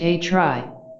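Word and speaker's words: A-khrid: this ocean teachings is called acrid pronounced a try that is the teachings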